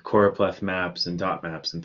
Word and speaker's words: choropleth: that i've made this choropleth map which is spelled c-h-o-r-o-p-l-e-t-h lots of people confuse choropath with another word chloropleth but if i'm making